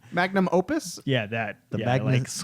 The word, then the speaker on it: magnum opus: I pronounced that completely wrong. Magnum Opus?